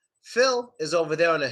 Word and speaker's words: Phil: And no, it's not feel. It's not feel. It's not E. It's Phil. You don't have that sound in Russian.